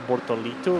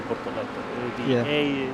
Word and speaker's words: Bortoleto: It's kind of like people sometimes saying at the start Gabriel Bortolito, right? And it's actually Bortoleto. The E is a little bit of a stronger than E pronunciation.